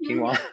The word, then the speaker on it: quinoa: Quinoa is one of them. Is that right? Did I say that right? Quinoa?